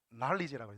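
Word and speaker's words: knowledge: 날리지라고. 난리즈. 그 날리지 할 때 그 영어로 쓸 때 그 날리지 앞에 날리지의 맨 첫 번째 글자가 뭡니까? K입니다. 근데 K를 우리가 발음하지 않죠.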